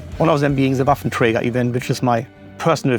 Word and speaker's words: Waffenträger: And when I hear myself saying Waffenträger sounds actually very odd to me, I should say Waffenträger, that's the only way how to pronounce it.